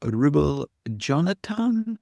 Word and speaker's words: Rubil-Jonatan: And today I am joined by Ma Rubel Jonathan. Am I saying that right? Yes. Yes, you are. Yeah, you're pronouncing my name really well.